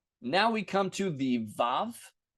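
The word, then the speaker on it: וו: Now we come to the vav, which if you see me write it in class, I'm going to write it with W's because historically it was a wow.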